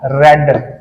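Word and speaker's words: read: कॉफ्ड, sprint स्प्रेंट स्प्रेंट, रीड का हो जाएगा रेड। स्पेलिंग सेम रहेगी, प्रोनाउंस में रेड करूंगा, ठीक है।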